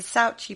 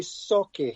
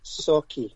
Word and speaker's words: Sauchie: literally just released a new book called the saucy poltergeist have i said that right malcolm um no it's actually sake so if you break up an s-a-w you saw then key k-e-y sake that's just that's how you pronounce it okay